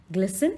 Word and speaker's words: glisten: एंड the last line, glisten like a peacock's feather. Now, what do you mean by glisten? Here, the T will be silent. This will be pronounced as a glisten, not glisten.